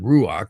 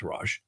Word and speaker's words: ruach: And then notice as you come up here, you'll see the rash, or some people pronounce it ruach, but I do hear it pronounced rash a lot.